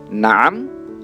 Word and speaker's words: نعم: Na'am, la. Lihat cara pengucapannya, na'am.